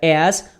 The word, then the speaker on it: as: Agora, muito importante, a pronúncia desse as é com som de Z. Porque se você falar com som de S no final, aí você vai estar falando a palavra ASS, que quer dizer o seu traseiro. Tá bom? Então, preste atenção. Este AS com um S só, a pronúncia é com Z.